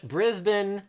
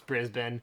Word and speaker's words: Brisbane: or whatever okay yeah it's spelled that way but that's not how you say it and within moments of